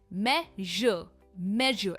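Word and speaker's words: measure: इसकी प्रोनाउंसिएशन है मेजर, एंड में जर का साउंड आता है, मेजर।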